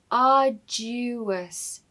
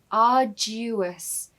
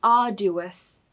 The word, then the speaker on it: arduous: A pronunciation tip here is the du in the middle of the word almost has a little y in the middle. So listen, arduous, du, arduous. It's not arduous, okay? Arduous.